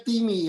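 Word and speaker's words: τιμή: Ya, kata hormat atau bahasa Yunaninya timi, dibacanya timi ya, time atau timi, itu sesuatu yang bernilai tinggi.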